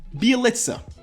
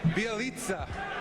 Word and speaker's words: Bjelica: This is Bielitsa.